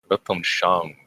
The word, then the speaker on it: Weltanschauung: But to require kind of a global or predominant, help me on the pronunciation here, Alex, but Weltanschauung. Weltanschauung, yeah.